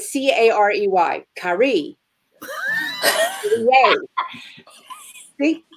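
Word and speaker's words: Carey: To whoever to read this, good luck pronouncing my name. Carrie, is that not right? C-A-R-E-Y. Carrie. Yay. See? Carrie.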